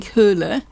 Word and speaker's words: Hole: Now, Harry Hole, pronounced, I understand, in Norwegian terms, something like Harry Hole, but even Joe Nesbo accepts that the anglicising of the name is he's just going to have to live with.